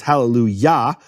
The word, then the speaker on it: Hallelujah: kamat of yah which yah is always the emphasized syllable it's Hallelujah um that then shifts to